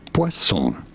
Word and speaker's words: poisson: as invented how how do you go about pronouncing it poisson is how it is going to call it